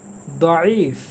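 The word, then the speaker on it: ضعيف: সেই শব্দ যেটাকে আমরা জয়ীফ বলি। কারণ এই দদের উচ্চারণ আমাদের এই অঞ্চলের মানুষ বেশিরভাগ জয়ের মতো বলে। যেমন উদু থেকে অজু, তারপরে রমাদন থেকে রমজান, দঈফ থেকে জয়ীফ।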